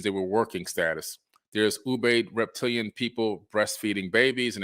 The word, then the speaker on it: Ubaid: the the uh you babe ubaid people it's pronounced ubaid u-b-a-i-d all right you have the ubaid people